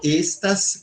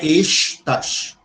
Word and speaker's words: estas: Europo estas continento. Veja aqui, tem um es e tem o tas. Esse s é sibilante, então ele ele não é exas, certo? Não é com x.